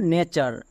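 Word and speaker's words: nature: দিয়ে দেখে নাও যেমন নেচার এই ওয়ার্ডটির শেষে চার সাউন্ড আছে আমরা জানি চারের জন্য টি ইউ আর ই ইউজ করতে হয় তাই এর উচ্চারণ হচ্ছে নে চার এরকম আরো কিছু ওয়ার্ড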